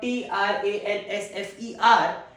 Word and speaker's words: transfer: First pronunciation, transfer. Transfer. The first syllable is stressed.